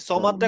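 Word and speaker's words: صمد: আল্লাহু আহাদ আল্লাহুস সামাদ সামাদ নট সামাদ হ্যাঁ যেহেতু স হচ্ছে সিনের গোল ভার্সন আমি যদি বলি সামাদ লুকস লাইক সিন আমাকে সিন বলা যাবে না বলতে হবে স তাহলে আসমাদ আল্লাহু সমাদ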